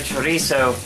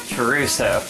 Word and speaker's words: chorizo: the chorizo fun fact zaya pronounces the word chorizo caruso you know what that